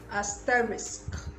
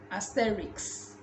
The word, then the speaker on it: asterisk: this word is pronounced asterisk asterisk like you pronounce the risk at the end a lot of people say aesthetics asterix is the same problem